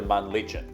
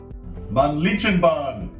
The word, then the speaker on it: Männlichen: Jungfrau is the best known and most popular option, but we decided to do something a little bit different and go to Männlichen, which is right next door.